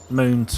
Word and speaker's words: Mun: There's 2 moons for Kerbal. The moon or the Mun, depending on how you want to pronounce it, and Minmus.